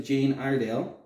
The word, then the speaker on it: Jane Iredale: But yeah, shout out to Jane Iredale.